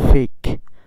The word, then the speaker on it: fake: তারপর আছে FAKE, এখানেও ই আছে সবার শেষে, তাই এর উচ্চারণটা এখানে কি হবে না? উচ্চারিত হবে না। এখানে কি হবে? FAKE, ফেক।